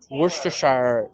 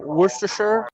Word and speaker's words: Worcestershire: like actually saying it it's not the shire pronounced sure sure there it is how do you say the whole worcestershire it is the worst